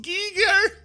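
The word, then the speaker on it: Giger: And he'd say, it is pronounced Geiger, and then die.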